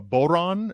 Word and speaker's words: bodhran: If you look up what's called a bodhran, it's spelled Bodhran.